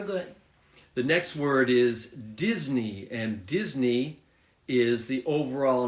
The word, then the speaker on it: Disney: yeah so Disney so although you write this e and Y like in the end so you don't say that you just say Disney Disney and we have other words that have the same uh ending like Britney for example right Britney also ends with a e y and then you just say Britney like Disney okay Disney very